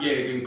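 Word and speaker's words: Jürgen: David Coote, and that Jurgen Klopp, he's a cunt. Not just a cunt, a German cunt, but he said it without like a hard G in there as well.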